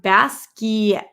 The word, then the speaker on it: Basquiat: know oh really roxy it's pronounced baskey basket jimmy nails is basket like a basket d-a-s-k-e-e-a-t oh okay glenn